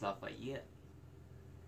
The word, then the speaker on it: Lafayette: time that you know why am i pronouncing the fate left should be pronounced lafayette and that person wasn't